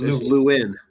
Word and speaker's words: Lewin: No, it's Lewin.